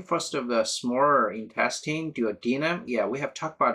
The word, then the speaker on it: duodenum: And the name first of the smaller intestine, duodenum. Yeah, we have talked about the duodenum, right? Duodenum is often pronounced duodenum. Also the pronunciation duodenum is also acceptable.